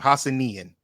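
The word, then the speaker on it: Hassanein: And I believe, son, that's how you pronounce his name. Hassanian.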